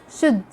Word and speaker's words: should: Letter L is silent in some of the most famous and common words we use every day. Like when you say walk, talk, should, would, half. Letter N.